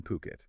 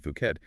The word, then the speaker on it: Phuket: And just for clarity, that's pronounced Phuket, not Phuket, but also over in Koh Samui too.